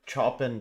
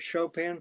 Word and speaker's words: Chopin: And uh one question from the audience says uh what is your favorite Chopin piece? I think uh my favorite Shopan piece.